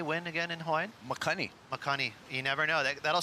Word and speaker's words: makani: Makani.